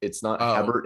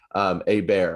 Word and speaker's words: Hebert: Bobby Urbe, it's like Urbe, or it's French. It's not Hebert. It's like Herbe or something like that. A bear, I think, is the correct pronunciation of it.